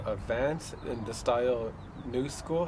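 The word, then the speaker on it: Knu Skool: The first item I did get for Christmas was this pair of Vans in the style New School. I think that's how it's pronounced KNU.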